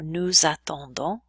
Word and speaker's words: nous attendons: Then we have the same thing happening with the S's in nous, vous, il, and elle. We're going to make them sound like a little bit of a Z. We're going to pronounce them a little bit.